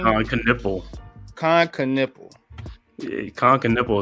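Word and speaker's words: Knueppel: How you pronounce his name? Con Knipple.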